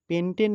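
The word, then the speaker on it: pentene: এটির উচ্চারণ হবে কি পেন্টিন পেন্টেন না হয়ে এখন এটার উচ্চারণ হবে কি পেন্টিন কারণ এখানে একটি কি আছে দ্বিবন্ধন আর এই দ্বিবন্ধন থাকলে আমরা উচ্চারণ করব কি নামের শেষে ইন এবং এখানে যদি আমরা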